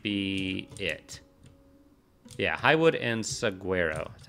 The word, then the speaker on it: saguaro: Yeah, highwood and saguaro. Is that how you pronounce it?